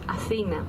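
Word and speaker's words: Αθήνα: Athena and Athens is the same word in Greek. We pronounce Athena, both the city and the goddess.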